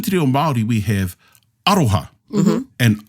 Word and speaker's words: aroha: So within te reo Māori, we have aroha. And aroha stresses the first syllable of the word.